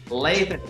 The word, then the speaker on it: Lathan: Why I Love Dirt Roads, featuring Christian rapper Lathan Warlick. Is that how you say his name, Granger? Lathan.